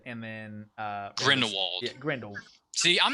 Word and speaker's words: Grindelwald: fantastic beasts dell says i like crimes or grindelward and then uh grindelwald yeah grand old see i'm not even an